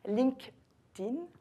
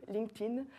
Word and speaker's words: LinkedIn: Juste LinkedIn. Donc on fait un K, on met le T et on oublie le E, LinkedIn.